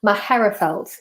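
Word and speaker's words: Magherafelt: Maherafelt, you don't pronounce the G, very good.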